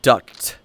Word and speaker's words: duct: It's called duct. It's spelled D-U-C-T, tape.